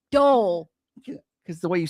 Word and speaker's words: Dole: It's National Dole Whip Day. Dole Whip. Oh, Doyle. Dole. Okay, Dole Whip. It sounds like you're saying dough. No. Like D-O-U-G-H. Tell me that's not how you say it.